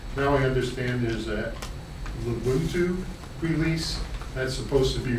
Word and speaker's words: Ubuntu: Was it I don't know how it's pronounced. Ubuntu? Ubuntu.